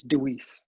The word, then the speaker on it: DeWeese: last name for me it's Dewey's it's Dutch Dewey's just like it's spelled right well I've heard